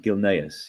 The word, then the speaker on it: Gilneas: So am I pronouncing this right? Gilneas, yeah?